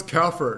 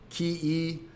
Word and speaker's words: kafir: He doesn't know how to pronounce kafir because they think they're talking about the yogurt. That's it's like KEFIR.